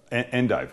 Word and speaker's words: endive: I don't say it like Linda's. Endive. What do you say, Lynn? I do say endive. Endive? Yeah. Some people say endive. Endive? I think maybe Martha Stewart would say endive.